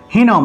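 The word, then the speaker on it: হীনং: মন্ত্রহীনম ঠিক আছে মন্ত্র হিনম অনুস্বার অনুস্বার থাকলে সেটার উচ্চারণ ম ঠিক আছে তাহলে হীনম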